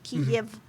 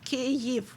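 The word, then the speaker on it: Kyiv: that's how you name ukrainian capital in russian kiev but if you are if you're talk if you're speaking in ukrainian language it is kev which may be difficult to pronounce i get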